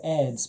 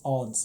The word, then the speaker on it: Adz: be the age of ads but he was quite clear that it's odds it's pronounced odds adz so that that